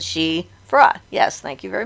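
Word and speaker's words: sidhe: a female she so s-i-d-h-e is the name of the irish fairy folk and it's pronounced she as well so in ireland anything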